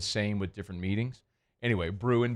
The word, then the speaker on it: Bruin: Anyway, Bruin, B-R-U-I-N, like brewing, but Bruin, like anyway, Hunt basically just got quotes together from UCLA media this week, just totally crapping on UCLA football.